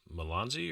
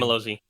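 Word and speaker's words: Mazzello: yeah, I think that was it with Joseph Malonzi, or how do you pronounce his last name? Malozzi.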